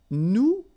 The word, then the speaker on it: nous: if you remember correctly, so final S is not pronounced here. Okay, and then this O-N, so it's a nasal and it goes in your nose and it goes like on. All right, so you don't hear any N, so it's really on.